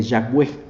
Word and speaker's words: Yahweh: que probablemente Jehová viene del hebreo, no se pronuncia así porque son puras consonantes, y realmente es más exacto el nombre de Yahweh, pero porque Yahweh tiene vocales, ¿no?